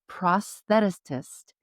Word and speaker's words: prosthetist: Jessica's 17-year tenure as a certified prosthetist or Ooh.